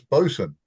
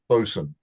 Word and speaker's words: boatswain: But um well done and for the benefit of everybody else although it's spelled BWain it is an old English pronunciation of Bosen which is how how you spell it.